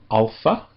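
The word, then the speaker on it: ἄλφα: The first one is called alpha and it sounds like the a in father.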